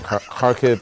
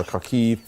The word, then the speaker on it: Kharkiv: steady um blast in kharkiv or kharkiv parkv is how she is pronouncing it there um and that